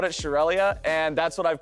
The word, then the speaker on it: Shurelya: slide how do you pronounce shurelya well I pronounce it shurelya shurelya you guys shurelya was also a person